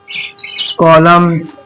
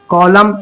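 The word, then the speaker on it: column: दिया इसी तरीके से एम के बाद है एन तो हमने एन को साइलेंट करा एम पढ़ा कॉलम इसे कॉलम नहीं पढ़ा हमने इसे पढ़ा हमने कॉलम इसी तरीके से हमारा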